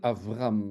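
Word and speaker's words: אברהם: je dis Abraham euh le texte va nous dire Avraham hein c'est c'est c'est un B en français mais on prononce V hein c'est mais bon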